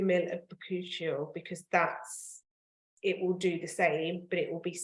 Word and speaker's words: bakuchiol: So the first key ingredient is bakuchiol, which is spelt BAKUCHIOL, bakuchiol.